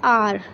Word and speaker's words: hour: तो बट जब हम लोग प्रोनाउंस करते हैं इस वर्ड को, हम लोग करते हैं आर, यानी कि एच साइलेंट है.